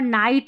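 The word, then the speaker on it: night: Laugh में GH फ, नाइट में GH साइलेंट है, ऑलरेडी मैंने बता दिया है।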